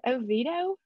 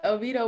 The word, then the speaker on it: Oviedo: Oh, is it Oviedo? You got it. Oviedo, whoop whoop.